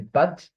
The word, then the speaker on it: pâtes: It doesn't change anything in the pronunciation of the A, the pâtes, okay? However, it tells us that before there was an S here.